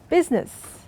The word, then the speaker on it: business: hear the G and business we don't pronounce the I and surprise the word